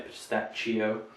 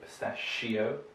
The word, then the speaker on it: pistachio: So pistachio, this is another sh. We don't say pistachio, we say pistachio.